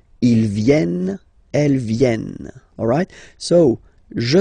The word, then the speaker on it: viennent: E-N-T, you don't pronounce them. Ils viennent, elles viennent.